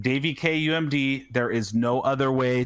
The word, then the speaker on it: daviekumd: be twitter um it's it's at daveykumd d-a-v-i-e-k-u-m-d pronounced davy k umd there is no other way to pronounce that